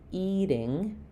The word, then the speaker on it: eating: So, it's going to be stressed on the eat first syllable. Um, and eating the the t is between two vowels followed by an unstressed syllable. So, here we're going to have the flap like we had in got it or getting, eating. Uh, it's going to sound like the same as D's sound in the middle of words.